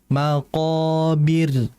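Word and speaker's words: المقابر: Berikutnya adalah ee almaq rnya tipiskan. Hatta zurtumul maqobir. Maqobir. Jangan dibaca seperti ini. Hatta zurtumul maqobir. Nah, itu namanya ketebalan. Jadi ditipiskan saja.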